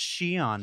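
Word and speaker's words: Xi'an: And if your instinct was to stop the YouTube video and go immediately to comments and say, it's pronounced Shion, Mark, get a better hobby. I'll say you'd be correct.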